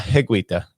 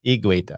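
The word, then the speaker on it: Higuita: sent in saying him it's not heguita it's igueda and i'm like look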